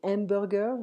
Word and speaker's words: hamburgers: Des hamburgers, so in French we don't pronounce the H.